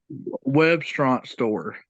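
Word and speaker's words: WebstaurantStore: Webstaurant store.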